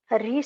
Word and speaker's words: ऋ: इसका उच्चारण भी अन्य स्वरों की तरह ही किया जाता था। हिंदी में आकर इसका उच्चारण बदल गया। री की जगह ये र और छोटी की मात्रा आ गई र के ऊपर।